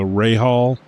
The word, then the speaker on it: Rahal: It's actually the Rahal straight is how it's pronounced. Yeah, Bobby Rahal.